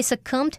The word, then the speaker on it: succumb: over the course of one's life 则是表达在某人的一生当中或者是终其一生。好，那我们接着读到下一句哦。Eventually, he succumbed to his illness on March 14th, 2018. 最后，霍金他在2018年的3月14日病逝。好，那这边要学的是 succumb 这个动词，它表示屈服。那它的字尾 b 是不发音的。Succumb 常常用来指向某一个强大的力量或者是欲望来屈服让步，那么后面用介系词 to 再加上屈服的对象，是用来表达说经不住什么的诱惑，或者是不堪不敌什么什么，也可以指不敌什么什么而死亡，像 succumb to threat 不堪威胁，